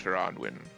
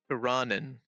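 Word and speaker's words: Tirannwn: from the lands of Taranwin. Wait, hold on a second. I have to actually double check the pronunciation because I realized, oh yeah, I think I've been saying it wrong. Tiranen.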